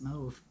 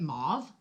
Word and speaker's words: mauve: them off it's wrong if you look it up and say how do you properly pronounce move that's how you properly pronounce move Oh especially when you have like gurus like Jeffrey start calling it mauve and that's not actually how you say it bill it drives me